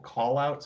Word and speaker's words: Qallout: Lately, my passion is live video debating on a place called Callout, spelled like Qallout.